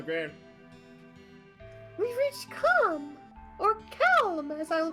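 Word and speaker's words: Kalm: We've reached Calm, or Calm, as I will pronounce it from now on.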